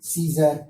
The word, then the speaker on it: scissor: SCISSOR سیزر, سیزر miss کینچی.